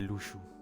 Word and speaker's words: Luxu: Seul qui pourrait savoir où il se cache, c'est Louchou. Alors, Luxu, mais ça se prononce Louchou.